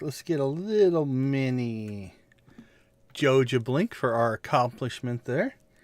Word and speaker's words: Joja: When you say Joa, now say it like the Sega logo.